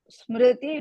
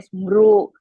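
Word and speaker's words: स्मृति: Then coming to the second pada, sammohat smriti vibhramaha. Sammohat smriti don't say smru like that. Smriti, smriti vibhramaha.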